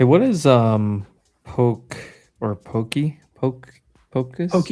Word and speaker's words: poke: So, hey, what is um poke or pokey?